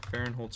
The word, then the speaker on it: Farenholtz: farron holds 14.